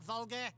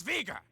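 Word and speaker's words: Veger: Excuse me, Count Vulgar. It's Vega. Yeah, whatever.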